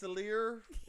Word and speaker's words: Atelier: Try it again. It's Atelier. So it's hard to pronounce.